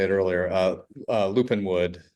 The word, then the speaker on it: Lupinewood: Uh uh Lupin Wood correct? Lupin Wood Collective, sorry about that earlier. Um the Lupin Wood Collective where where folks can find that store.